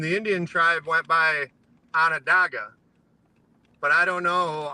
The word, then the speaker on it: Onondaga: It's named after an Indian tribe, and the Indian tribe went by Onondaga. But I don't know, our whole life and everyone that comes from there calls it Onondaga. So Either one is appropriate.